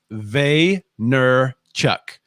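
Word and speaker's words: Vaynerchuk: sure how to spell well it's vey ner chuck and if you watch team on one library tv years ago that's how you used to always say it that's how i know how to say it uh so how'd i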